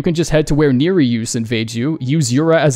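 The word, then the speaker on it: Nerijus: just head to where Neri use invade you use Yura as a decoy and the dude practically beats himself and yes it's pronounced near reuse I found out it's a Lithuanian name in English it translates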